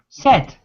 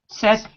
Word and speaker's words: said: It looks like said, but it's not said, it's said. First column, said. Many people have difficulty with this because they want to say, oh, the verb is to say, so it must be said, but it's not said. It's irregular. It's not spelled how it's pronounced.